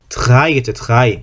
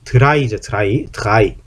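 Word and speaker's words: drei: A하고 E가 두 개가 붙어 있을 때는 발음을 어떻게 한다? A가 아니고 발음이, 그렇죠, I라고 발음한다. I라고 발음한다. I. 그래서 발음이 어떻게 되냐면 드라이겠죠. 드라이죠. 드라이라고 발음을 한다.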